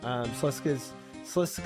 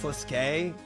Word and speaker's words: Sliske: Slisk is the one that gave the Barrows brother their power. I just forgot that the Barrows brothers were fighting the vampires. It's pronounced Sliske.